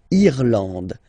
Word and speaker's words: Irlande: Remember, this is E and it should pronounce, it should be pronounced like E, E. Irlande. Irlande. Okay, A-N-A-N-D. And final E, not pronounced.